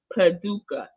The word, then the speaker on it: Paducah: And Grams of 7 told me how to say this the other day. I'm gonna try to say it again. She broke it down to me. Paducah. Yes, I think I got it. I said it right the first time.